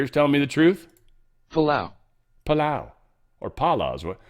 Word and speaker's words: Palau: Couldn't spell that. What else did I look up? What other crazy shit? Pala. I hear it. Let's listen, guys. Let's listen together. Palau.